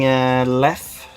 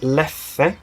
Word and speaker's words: Leffe: Because in Swedish it looks like it's pronounced Leffe. But actually, if you go down there and you try to order a Leffe, they will look at you like you're stupid or something.